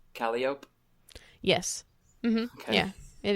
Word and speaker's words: Calliope: Is that pronounced Calliope? Yes. Mm-hmm. Okay. Yeah, it is Calliope.